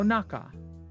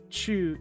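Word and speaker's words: 中: So same kanji, the chu from chugoku is going to be pronounced naka for uchi no naka. In inside the house, chu is pronounced naka. Also, I probably should have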